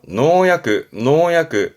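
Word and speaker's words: 農薬: 발음은 노교. 그렇죠. 농약이네요. 노약.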